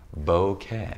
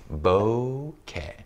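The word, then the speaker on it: bokeh: the correct pronunciation of bouquet is bow like bow and arrow and care like kettle right there's a Japanese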